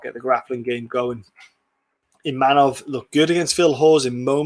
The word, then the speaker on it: Imavov: One of the holes Imavov has got is the wrestling, and it's a Imavov. There we go. Dude, I'm shit with pronouncing names.